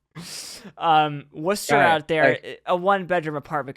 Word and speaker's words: Worcester: lot of people mispronounce it they call it Worchester that's how it's spelled um it's actually Worcester um Worcester out there a one-bedroom apartment could cost around